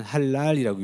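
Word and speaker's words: حلال: 그러니까 이거를 당연히 아랍어를 아는 사람은 할랄이라고 읽습니다.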